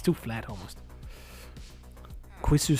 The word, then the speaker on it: quis: I mean, you know, it's like pronounced as quiz. Basically, which is not even what it's saying. I mean, I think still Desmond's is the one that came most accurate if you're looking at what the word means. Keys, because I think that's how it's pronounced from Latin, but that's not what I would go for.